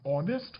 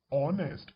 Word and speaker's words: honest: and with it an honest person so here this word though it is starting with h but the sound is honest h is silent over here that is why since